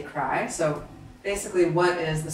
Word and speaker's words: Kry: means proud and conceited it's pronounced crew but you say cry so basically what is